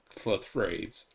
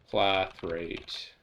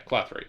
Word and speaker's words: clathrate: Oh yeah, we made our thing that makes the clathrades. Clathrades? How do you pronounce this word again? Clathrate. Pronounce. Yeah, clathrate.